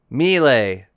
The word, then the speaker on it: melee: Melee.